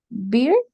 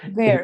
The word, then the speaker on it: beer: How do you pronounce this one? Beer? Okay, Exactly. Yes. I say it like also. I said bear.